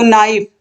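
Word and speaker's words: knife: words को लिखिए तो नाइफ नाइफ मतलब चाकू तो देखिए के जो है इसका उच्चारण नहीं हो रहा है नॉक नॉक मींस खटखटाना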